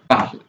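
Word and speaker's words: parlent: Il, elle parle. Remember, ent's pronunciation is not on, it is e. So, il, elle plural, parle.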